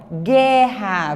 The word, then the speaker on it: guerra: Ó, guerra, você não pronuncia o U.